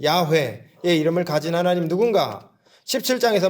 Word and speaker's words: 야훼: 하나님의 이름은 여호와가 아니라 야훼, 여호와, 야훼 비슷하잖아요. 야훼일 거다.